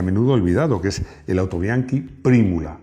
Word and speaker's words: Autobianchi: olvidado, que es el autobiankee primula, no autobianchi. En italiano se dice autobianke, bueno, también digo y no digo pero bueno, lo digo en italiano.